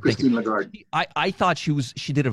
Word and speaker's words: Lagarde: How do you pronounce her last name? Lagarde. Christine Lagarde.